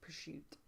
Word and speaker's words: prosciutto: onion oh you like prosciutto it's okay you know how they how you say it in the Italian community per shoot that's how you say